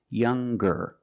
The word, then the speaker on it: younger: So, it's younger with a g sound.